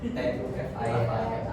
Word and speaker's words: Tufil: TUFIL.